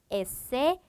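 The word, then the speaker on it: ese: 자, 얘 같은 경우에는 소리 나는 그대로 이렇게 사용을 해주고요. 시옷 발음이 되겠죠? 그리고 때는 쌍디귿의 발음을 가지게 됩니다. 그래서 엘에, 에세, 때 이렇게 가게 되고요.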